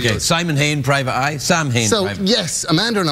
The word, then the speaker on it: Samhain: It's Sam Hain today. It is. Good old Sam. Sam Hain. Yeah. Yeah. It's pronounced Samhain.